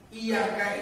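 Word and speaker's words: إياك: Iyyaka itu dalam tulisan Arab ada yang ya-nya bertasdid, ada yang ya-nya enggak bertasdid. Kalau lihat di kamus itu, ada yang bersyiddah bertasdid, bacanya nyentak. Iyyaka na'budu, iyyaka, iyyaka, ya-nya ada syiddah sehingga nyentak dibacanya iyyaka. Ada yang iyyaka itu nggak ada syiddahnya, jadi bacanya datar iyyaka.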